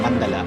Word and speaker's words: Mandala: So ang Mandala uh actually 'yun ang pronunciation eh Mandala.